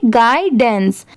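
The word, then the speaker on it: guidance: गाइडेंस। अब जैसे देखिए जी यू आई यहां पर इसकी साउंड क्या है? गाय की साउंड आ रही है।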